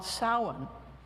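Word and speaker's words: Samhain: cross quarter day that's called saan it's spelled like Sam Hae but it's it's an old Gaelic word sa and it means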